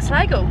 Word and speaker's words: Sligo: that doesn't make sense it's like sligo s-l-i-g-o right let's go that's just like what the pronunciation is loser buys the first